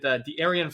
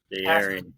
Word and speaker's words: De'Aaron: De'Aaron. I told you how to pronounce it. De'Aaron. That's on me. You just had so many different syllables that you didn't need to.